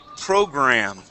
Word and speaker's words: program: Okay, let's go to the word program. Okay, so we have two R's here, per and gur.